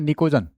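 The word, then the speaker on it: pnictogen: जो ग्रुप 15 है उसको बोलते हैं निकोजन पी साइलेंट है क्या बोलते हैं इनको निकोजन बोलते हैं और ये काम आते हैं फर्टिलाइजर बनाने में।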